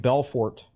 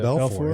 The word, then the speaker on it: Belfort: Davi Belfort. You don't say the T. The T is silent. Davi Belfort.